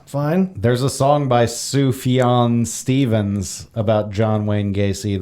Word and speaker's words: Sufjan: I learned from Childish Gambino that it's pronounced Sufjan.